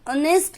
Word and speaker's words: honest: She is an honest lady. H, it's not vowel, it's a consonant. But since H has been made silent here, that's why it is pronouncing as A.